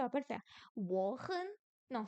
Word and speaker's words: 很: Wo hen. Oh, pardon. Si je vous défais le truc, ça va pas le faire. Wo hen. Non, c'est quoi hen? Troisième ton.